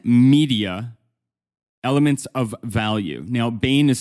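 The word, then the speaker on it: Bain: can Google Bane media elements of value now Bane is spelled b a i NE Bane media elements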